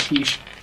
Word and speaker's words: quiche: Yeah, I always used to pronounce it Quickie Lorraine. I found out recently it was quiche.